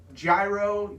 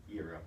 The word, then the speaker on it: gyro: So if you've always wondered, it's like just the G is silent. You just go straight Y.